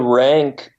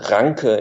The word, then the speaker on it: Ranke: Well, Rank, pronounced Ranke in German, but we can call him Rank.